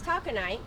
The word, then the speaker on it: Taconite: It's taconite. It, Begonia taco taconite, night? Uh-huh. which, Tuesdays. well, I'm saying it wrong. How are you supposed to say it? Taconite. Taconite. Okay. But it's spelled taco Right.